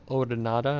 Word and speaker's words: Odonata: baylor for maureen's launched their first attack it's pronounced the odonada i didn't mean they've been